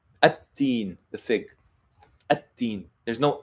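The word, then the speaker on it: التين: So it would be like at-teen, the fig. At-teen. There's no al-teen.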